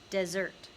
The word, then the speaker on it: Desert: She pronounced it desert.